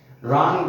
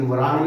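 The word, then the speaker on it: wrong: रॉन्ग, रॉन्ग माने गलत, लेकिन वरांग नहीं बोला इसको।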